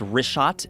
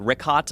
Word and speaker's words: Richat: in the first couple uh I just want to say it's Rishot. I used to call it Rickot. I was m mispronouncing it.